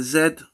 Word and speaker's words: Z: So we got letter zed two primary pronunciations. Yes. So we said it's zed and z.